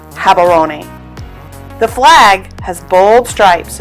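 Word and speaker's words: Gaborone: in southern Africa and Hatter oniy is the capital city it's spelled with a G but in Botswana the G sounds like an H have aroni the flag has bold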